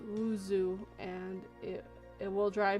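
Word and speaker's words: oiseau: is sound the way you think it's not usheru it's pronounced wuzu and it it will drive me bad about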